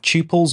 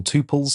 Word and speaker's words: tuples: Next, we have tuples or tuples, depending on how you pronounce it.